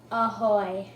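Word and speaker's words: ahoj: Ahoy.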